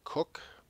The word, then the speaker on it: Coke: called well we've been calling it The the coke rule it's uh spelled c k like Coca-Cola short for Coca-Cola it's actually uh pronounced cook it's an old British rule it's actually from